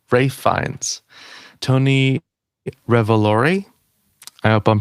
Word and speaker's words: Ralph: I say Rafe. That's it. That's what it is, right? All right. Good. I say the I say the right version in real life. Rafe.